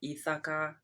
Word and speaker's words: Ithaka: Um, I pronounce it eithaka. Maybe some people pronounce it ethaka.